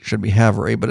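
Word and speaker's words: Havre: North Dakota to Haver even though they spell it wrong it looks like Cavalry we were saying have Ray until one of uh Lee's buddies said oh no that's Haver yeah Haver seven hours Ease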